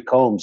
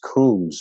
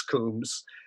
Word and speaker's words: Combs: jeffrey combs and and he said i think it's pronounced coombs and i i'd like you to clarify that for me is it originally pronounced well there's some what's the word yeah well avery is uh incorrect on that but not really there are there is another version of my name with two o's in it and brits